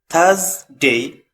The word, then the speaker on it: Thursday: Thursday. In British pronunciation, R is silent, and put your tongue in between your teeth to make the sound Thursday.